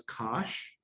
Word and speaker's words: cosh: And as I mentioned, the hyperbolic cosine is pronounced as Cosh, not a word I just randomly made up, actual word from science.